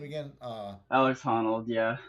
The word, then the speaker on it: Honnold: Alex Honnold, yeah. Honnold.